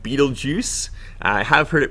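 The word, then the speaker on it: Betelgeuse: Stars over here so this one is called Beetle Juice I have heard it pronounced other ways too but I'll just say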